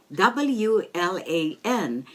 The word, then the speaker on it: WLAN: W-L-A-N, and as you know, W is pronounced as V in German. So, WLAN.